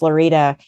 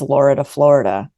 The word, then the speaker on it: Lorida: I was like that just dropped the f in Florida I was like no really it's lorida Florida so then for